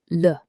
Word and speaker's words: le: Many learners pronounce le like lee. That isn't correct. The correct pronunciation is le. It's a short, relaxed sound. Keep your lips slightly rounded and don't exaggerate the vowel.